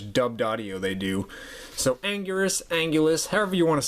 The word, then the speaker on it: Anguirus: And also, too, the name Anguirus, or Angulus, in Japanese, I'm pretty sure translates out to Ankylosaurus, or is pronounced roughly the same as Ankylosaurus.